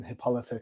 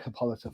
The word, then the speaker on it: Hippolyta: I have been a little bit lapse when Hippolyta came into the book, because I'm not a big Hippolyta fan. I am all about Diana. Sue me. Hippolyta. What? Hippolyta.